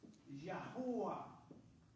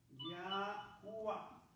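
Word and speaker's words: Yahweh: Pero en el año 200, hasta el año 200 antes de Cristo se pronunciaba con vocales Yahua, Yahua, así.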